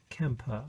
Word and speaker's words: Quimper: uh and it's camper which is spelt quimper but pronounced kemper i think or kemper and it's